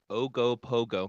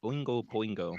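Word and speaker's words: Ogopogo: Well, Canada's other famous lake monster, Ogo Pooo or Ogo Pogo. I can never I always say Oingo Pingo. That's That's not it. That's It's not it at all.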